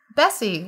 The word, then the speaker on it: Besse: Besse, like a cow.